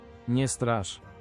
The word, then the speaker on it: Nie strasz: Okay, let's see how to actually pronounce this. Nie strasz.